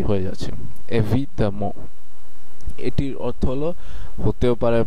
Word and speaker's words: évidemment: করব, তখন আপনি এই এক্সপ্রেশনটি ব্যবহার করতে পারেন évidemment। évidemment évidemment évidemment évidemment এটি যেহেতু পুরোটাই একটি এক্সপ্রেশন, এই পুরো শব্দটি হচ্ছে একটি এক্সপ্রেশন, পরিপূর্ণ একটি এক্সপ্রেশন, সেহেতু এটিকে আপনারা একসাথে উচ্চারণ করার চেষ্টা করবেন évidemment।